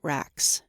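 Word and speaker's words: Rax: of the maranoid world they called it racks a Brisk somewhat guttural monosyllable which I write with those three letters there we took up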